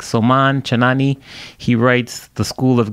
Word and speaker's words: Soman Chainani: from the children's author I believe you pronounce his name like soman chainani he writes the school